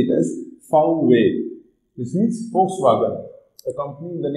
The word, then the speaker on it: Volkswagen: one of the previous class so this is volkswagen we are produced crn we are producing outdoors